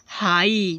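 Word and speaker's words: high: हाई देखो जीएस है last में इसलिए जीएच को साइलेंट कर दिया गया।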